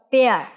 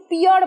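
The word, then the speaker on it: pear: পেয়ার। পেয়ার। ন্যাশপাতের ইংরাজি কিন্তু পিয়ার বলো তোমরা অনেকে, যেহেতু পি এর পর ই আছে, কিন্তু এটা সঠিক উচ্চারণ হচ্ছে পেয়ার।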